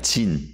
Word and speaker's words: 신: 정확한 그 발음은 진입니다. 진, Z예요. 왜냐하면 S로 되는 신광야가 따로 있어요.